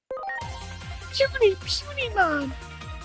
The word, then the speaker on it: Punimon: Yes, it's actually pronounced puny. Punimon.